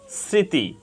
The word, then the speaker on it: স্মৃতি: তালব্য সসিক্য হয়েছে স্মৃতি এখানে প্রথম বর্ণ দন্তস এর সাথে ম ফলা যুক্ত হয়েছে প্রথম বর্ণ দন্তস এর সাথে ম ফলা যুক্ত হওয়ার কারণে ম ফলার কোন উচ্চারণ হয়নি বরং প্রথম বর্ণ তালব্যস সামান্য নাসিক্য হয়েছে সারক প্রথম বর্ণ দন্তস